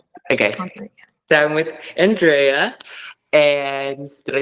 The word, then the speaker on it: Andrea: So I'm with Andrea.